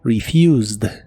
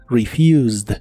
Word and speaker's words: refused: la forma del presente solo que ahora termina con e d Aunque solo se pronuncia pronuncia la d refused refused en el pasado la